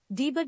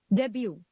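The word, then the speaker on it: debut: Debbie Debbie next we have you मे be pronounce it डी बट डे बट ड बट what it actually is डेब्यू डेब्यू the next word is यू मे बी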